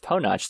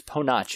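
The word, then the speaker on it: Ponoc: discover it is pronounced PO notch the directors themselves actually said it's a Croatian word that they got that from it so it's PO notch if you're curious had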